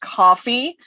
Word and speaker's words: Ko-fi: I do have, I think it's pronounced coffee, spelled Ko-Fi.